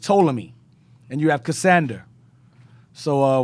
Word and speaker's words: Ptolemy: He's not Ptolemy. It's just Ptolemy.